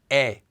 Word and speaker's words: 의: Now you can still pronounce it as 의 even when it's used as this particle, but it's much less common. More often you'll just hear it as 에.